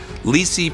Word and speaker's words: LiSi: available to dentists in 2017 gc america introduced lysi press lysi is spelled l-i-s-i and you as you may have